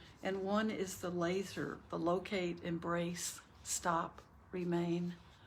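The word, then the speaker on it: LESR: out through your nose l-e-s-r pronounce the acronym like laser stands for locate embrace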